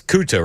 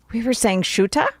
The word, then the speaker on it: Ceuta: It's Ceuta, right? We were saying Shuta?